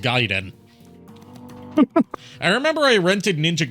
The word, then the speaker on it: Gaiden: counter called it Ninja gaen because he didn't know how it was pronounced but you know it's giden because one it's Japanese and two uh they